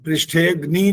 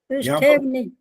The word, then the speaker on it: पृष्ठेऽग्नि: अब पृष्ठेग्नि जो बोला ना वो गलत हो गया। पृष्ठेऽग्नि, हाँ ये ऐसा बोलना होता है। जब छोटी की मात्रा हो तो उसको मिला करके रखो, अलग मत करो।